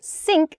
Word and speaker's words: sink: word to pronounce um so sink sink uh does not use your tongue against the back of your teeth at all SN it's just a simple s sound SN your tongue is